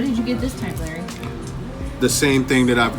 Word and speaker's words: Larry: Larry? Yeah. Oh. But the pronunciation is just Larry. Larry. That's all. Arr. What the Yes. arr? Roll the R.